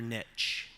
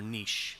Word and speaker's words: niche: Finding your niche, or niche, depending on your pronunciation preference.